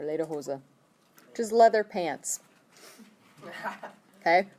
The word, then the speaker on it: Lederhosen: the word lederhosen before you haven't heard lederhosen where you shouldn't have if you did they said it wrong okay it's later chosen or later hoza just leather pants haha